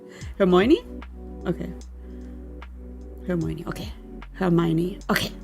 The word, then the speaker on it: Hermione: Hermoni. Because she had like a different name in German. Hermoni. How do you say her name? Hermione.